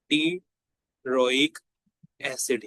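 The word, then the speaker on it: pteroic acid: ये दोनों को हम लोग नाम देते हैं टी रोइक एसिड यानी कि टेररिडीन रिंग और पैरामाइनो बेंजोइक एसिड को हम लोग टिरोइक एसिड का नाम देते हैं। पी जो है वो साइलेंट होता है।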